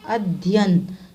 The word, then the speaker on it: अध्ययन: फिर अध्ययन, अध्ययन दो बार धा का उच्चारण नहीं होता, यह है सही उच्चारण, अध्ययन, दो बार या का उच्चारण होता है, ओके।